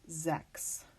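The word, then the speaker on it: sechs: here though is that sometimes you'll see the spelling c HS at the end of the word and that is actually going to be pronounced with a k' so words like this is Zechs then you also will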